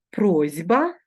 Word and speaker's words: просьба: таблицю і Прочитайте слова як ми вимовляємо просьба перевіряємо просити і пишемо з буквою с просьба як ми вимовляємо боротьба